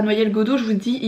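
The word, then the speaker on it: Noyelles-Godault: Je suis jamais sûre de la prononciation si c'est Noyelles, Alex me dit ça se dit bien comme un noyer, Noyelles-Godeau.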